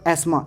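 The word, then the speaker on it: asthma: For example एस्मा, इसको अस्थमा पढ़ते हैं लोग, लेकिन ये एस्मा।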